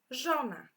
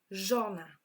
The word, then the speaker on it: żona: Żona. This one is quite tricky to pronounce because ż doesn't exist in English alphabet. Żona.